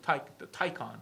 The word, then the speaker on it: Taycan: Taycan, I think it's pronounced.